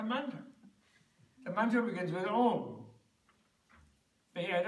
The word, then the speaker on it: om: The mantra begins with om. And om is made up of three sounds. Ah, u, m is om. Because o is ah plus u. Short ah plus or short u is o.